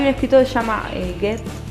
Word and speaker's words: Goethe: Y hay un escritor que se llama Goethe, no me lo dejo pronunciar mal, Nico, en alemán, Goethe.